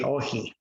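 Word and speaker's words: όχι: And if I were to pronounce that in the Greek, it would say ohi.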